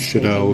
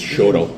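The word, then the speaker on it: Chouteau: people can oh yes I was pronouncing that totally wrong as I read it yeah I was shadow shadow yeah right if you're from st. Louis it's Shoto right right yeah being a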